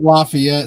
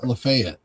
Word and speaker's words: Lafayette: They don't pronounce it Lafayette, Stacy. Here it's it's Tennessee. It's what? Lefayet.